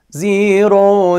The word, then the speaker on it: زاي: pronounce this letter correctly, you need to keep your tongue inside and close your teeth and make a very tiny space between the teeth, like this.